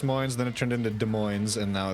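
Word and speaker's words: Des Moines: in my life where I couldn't pronounce De Moine properly and I was big dumb. Oh, were you saying that? I was saying Desmos.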